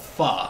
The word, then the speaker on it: pho: Well, I mean, there's a food called foo, or pho. It's called pho. Yeah, it's pho. If that's spelled like P-H.